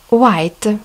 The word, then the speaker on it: white: White, белый, обратите внимание, H не читается, буковка A, буковка I на конце не читается.